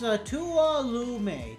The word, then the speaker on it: Tuolumne: Pronounced Tuolumne.